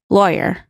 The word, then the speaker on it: lawyer: say it say it lawyer lawyer okay so rhymes with boy lawyer lawyer lawyer what